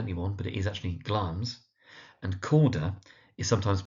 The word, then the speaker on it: Glamis: We have, of course, got Glamis, that's Glamis, and we have Corda, that's Corda. Now, Glamis, because it's spelt with an I, is sometimes mispronounced as Glamis. It doesn't really hurt anyone, but it is actually Glamis.